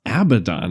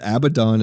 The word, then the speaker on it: Abaddon: I think it's pronounced Abaddon, isn't it?